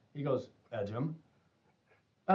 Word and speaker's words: Ejim: how do you pronounce your name he goes edum I like we've been mispronouncing your name for two years and I